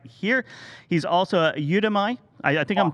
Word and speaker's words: Udemy: it mr supply chain how do you pronounce it well maybe i think it is you to me i okay so udemy so you and me i think we might